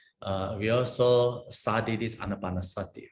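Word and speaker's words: ānāpānasati: Okay, now the last one is the anapanasati. Anapanasati. I think, many months ago, right? We also studied this anapanasati, right?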